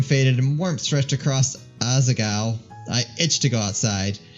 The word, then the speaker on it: Asagao: stay with me no it's not Asya it's aza cow cheese cheese classic how